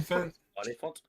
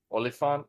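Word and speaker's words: Oliphant: The other thing I wanted to bring up about uh Timothy Oil, how do you pronounce his last name? Olifant. Olifant.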